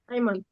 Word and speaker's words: Ayman: It's how you pronounce it. I'm sorry, Ayman or Ayman? Ayman.